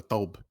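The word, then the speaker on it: thobe: Yellow ribbon in Riyadh they call it a taub. That's the way to pronounce that Oh, word.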